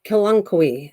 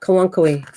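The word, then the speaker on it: Kalanchoe: also gonna do this i'm gonna do this syllable of it so i say it right so it's called the cal on kohi or okay kalankowi that's what it's called all right i even put the syllable how to say that word but it's going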